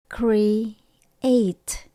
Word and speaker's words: create: nghĩa là tạo ra chúng ta đọc thành hai âm nhé create create My goal is to